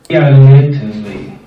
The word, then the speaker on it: фиолетовый: Не читайте букву О в слове. Слушайте и повторяйте. Повторяйте, как слышите, но не как читаете. Там это как писать. Но говорите правильно. Только когда слушаете, тогда будете говорить правильно. Развивайте русский слух. Фиолетовый. Фиолетовый.